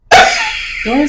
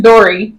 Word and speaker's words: Dory: Dorian's a girl? I'm so sorry, Dorian. Yeah. You said Dorian. Wait, how do you say it? It's Dory. Dory.